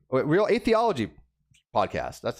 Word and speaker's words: atheology: watkins he is the host of the real anthology real a theology podcast that's how you pronounce it and he was nice enough to